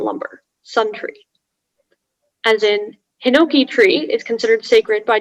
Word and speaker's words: hinoki: i am in seventh grade your word is hinoki um could i have all the what do you call it stuff please all the information yeah um so the word is hinoki that's the only pronunciation it's a noun it's